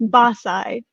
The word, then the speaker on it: BAScii: it but it's pronounced basae so it's one single word basically which stands for